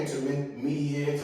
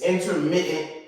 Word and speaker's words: intermittent: Everybody always say some people say intermediate inter it's intermittent. I think it's that's how you pronounce it.